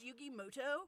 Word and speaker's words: Yugi Muto: Wait a minute, is that Yugi Muto? Actually, his name is pronounced Yugi Moto.